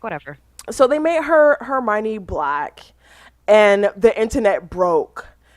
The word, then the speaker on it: Hermione: to pronounce the name is it Hermione is it hermony like what is yeah it's Hermione at that's what it was in the movie and so I'm like whatever so they made her Hermione black and the internet